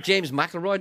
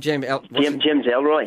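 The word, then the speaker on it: James Ellroy: Did you have James McElroy down there the other night? What's his name? James Elroy.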